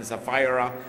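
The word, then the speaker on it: Sapphira: zafira By the way in pronouncing biblical names It's always safest and most correct to pronounce it the Tagalog style rather than the American Style like ananias and safira dahil ang talagang mga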